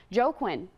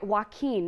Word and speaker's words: Joaquin: just a second but Joe Quinn or I'm sorry Joaquin not joe quinn i've been mispronouncing it all week it's a tricky one